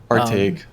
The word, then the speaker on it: Artake: Artake, Artake. as in our take, yeah.